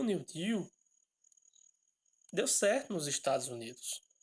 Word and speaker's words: New Deal: Que foi uma das principais propostas do New Deal, ou do New Deal, como vocês podem ler, né? Se pronuncia New Deal, né?